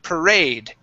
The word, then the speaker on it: parade: Okay, so the stress is at the end of the word. Okay, parade.